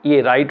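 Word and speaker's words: write: silent हो जाता है डब्लू के बाद आर लेटर आने पर यह व साइलेंट हो जाता है व आर आई टी राइट होगा इस तरह से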